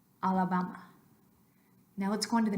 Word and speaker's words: Alabama: this after me uh and now Alabama make sure all of those are identically pronounced Alabama Alabama now what's going to